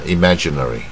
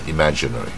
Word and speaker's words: imaginary: 这个大卷舌 imaginary 啊，大卷舌 imaginary。